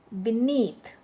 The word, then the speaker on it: beneath: rule 2 now beneath beneath be is a weak prefix so that's why the stress is on the second syllable that is need okay need beneath and rule 1 we